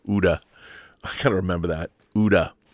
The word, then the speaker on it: OODA: It was Major Chai Chai who said OODA is pronounced like Gouda. Uda.